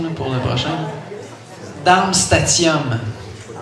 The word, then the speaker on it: Darmstadtium: Darmstadtium. Darmstadtium. Le D, en fait, avant le dernier T, ne se prononce pas. Le D est muet.